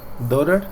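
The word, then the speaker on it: daughter: vendría haciendo la hija dter significa hija se pronuncia do d con siempre que usted vea la combinación de letras a u a u la va a pronunciar como o o listo ot otro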